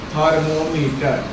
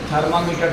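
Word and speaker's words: thermometer: उसके बाद नेक्स्ट हम लोग का टॉपिक है थर्मोमीटर। थर्मोमीटर, जिसको तुम लोग थर्मामीटर, थर्मामीटर गलत प्रोनाउंसिएशन करते हो, थर्मोमीटर।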